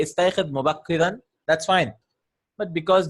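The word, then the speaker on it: استيقظ: And we can't pronounce it, so we'll bring a istayqid. Yeah, we'll bring a kasra.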